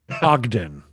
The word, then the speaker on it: Ogden: Ogden. Ogden. Thank you. I was going to say Ogren, which is very wrong.